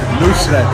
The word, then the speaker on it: Nusret: So how do you pronounce it? Nusret.